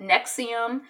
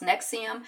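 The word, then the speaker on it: NXIVM: I guess the person who was running it nexium but it's spelled in X I VM but it's pronounced nexium I guess he was like tattooing his or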